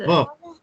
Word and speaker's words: verb: మీరు ఆ ఆర్ ని సౌండ్ చేయకుండా చదవండి, ఒకసారి ప్రొనౌన్స్ చేయండి, ఉచ్చారించండి. వెర్బ్స్. verb. verb. వెర్బ్స్. That is a correct pronunciation అన్నమాట.